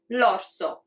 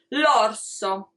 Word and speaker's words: l'orso: I'm going to say l'orso. And as you can see, it's L apostrophe orso. We don't separate in pronunciation, it becomes one sound, l'orso.